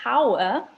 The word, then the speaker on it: hour: So we have to put the an there because it sounds like we're not saying the H. So if we said hour, then it would be a hour, but that's not the way that we say it. There are other words that begin with H where we do use a, like somebody said, a hotel, a home. Things like that, where we say the H sound, a h, hotel, a home, but an hour.